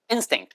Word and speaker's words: instinct: 그래서 instinct, 맨 앞에 액센트 있다는 거 주의하시고요.